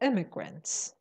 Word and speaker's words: immigrants: Immigrants. The stress is on the first syllable. Immigrants.